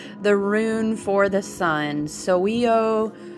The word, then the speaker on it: Sowulo: roon for the sun so we owe is how i've always pronounced that roon you guys know